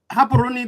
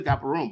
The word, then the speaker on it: Gaborone: Gaborone, the capital. People say Gaborone, but it's pronounced Gaborone.